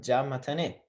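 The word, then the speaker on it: じゃまたね: If we put those together, we are going to not pronounce this ya sound, right? So it's going to be ja mata. And then optional, you can say ne. So ja mata or ja mata ne, right?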